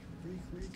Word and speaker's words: Reek: Reek, it rhymes to sneak.